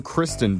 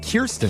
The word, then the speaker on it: Kirsten: I don't know who Kristen Dunst is, but Kirsten Dunst.